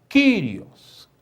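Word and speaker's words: κύριος: O capa com Y faz Q, ó. Q, o Rho com iota, Ri, ômicron com sigma, os. Kyrios.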